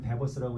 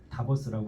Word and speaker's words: DABUS: 인공지능 이름이 이제 그 dabus 다보스라고도 있고 다 버스라고도 있고 저는 베버스 이걸 개발한 분은 데버스라고 읽더라고요 그래서 데버스라고 근데이 데버스가 다 버스라고 하겠습니다 좀 발음이 한국식으로 다보스라는 원래 없던 단어니까요 그러니까